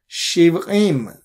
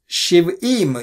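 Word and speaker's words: שבעים: You can't pronounce Ain. Not that I'm pronouncing it perfectly, to be honest, but I'm trying. Shiv'im, you can say Shiv'im. You pronounce it like Aleph, no problem. That's how they do it in Israel.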